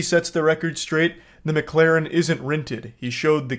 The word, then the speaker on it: McLaren: The McLaren isn't rented.